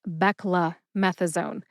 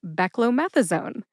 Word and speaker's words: beclomethasone: I failed to enunciate, it sounds more like beckmethazone. Beckamethasone. If you say it that way too, you're in good company because sometimes that's how it comes out. But officially, this drug name is pronounced beckllomethasone.